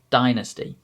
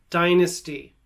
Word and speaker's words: dynasty: simultaneously dynasty privacy simultaneously hopefully you could clearly hear the difference between that i sound in the ga example like the letter i and the e sound that i did in the received pronunciation accents now the other time